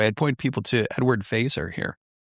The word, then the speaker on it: Feser: I'd point people to Edward Feser here, spelled like Fesser, F-E-S-E-R.